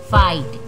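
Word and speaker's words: fight: Next फाइट, इसमें भी जी H silent है।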